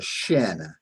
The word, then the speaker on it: Shin: But that dagesh makes all the difference in the world because the first letter is called a shin, S-H-I-N, just like the front of your leg there.